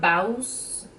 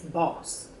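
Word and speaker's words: bawse: a boss um and please do not pronounce the W you don't really pronounce the w i was watching Jimmy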